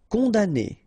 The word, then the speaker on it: condamné: Condamné, okay, so it's really strange because this M here, well, technically it's not pronounced.